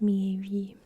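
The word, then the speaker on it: Miéville: I talked about a different one of his books in a different video, and I still don't know how to pronounce his name, but I believe it's Mieville.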